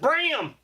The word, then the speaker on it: Bram: It's pronounced Bram. That's, Bram Stoker.